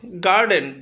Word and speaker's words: garden: গার্ডেন GARDEN, তাহলে এখানে ডি এর আগে আর, অর্থাৎ আর এর পরে কনসোনেন্ট রয়েছে তাই আমরা আরটা উচ্চারণ করবো না, গার্ডন।